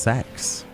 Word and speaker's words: CeX: a WN obviously yeah for some reason it's pronounced sex it's weird I was